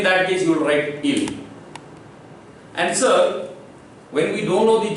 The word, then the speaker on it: il: Sir, IL, it is pronounced ill, and ILS, it is also pronounced ill, and ELLE, it is pronounced L, ELLES, it is pronounced L.